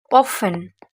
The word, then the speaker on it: often: aussi par exemple souvent often often ne prononce jamais t often often c'est souvent